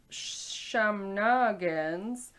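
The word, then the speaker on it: samhnagans: you that Google thought I was trying to pronounce the word shenanigans. Smaller bonfires known as shamnagans came into tradition. Some noggins.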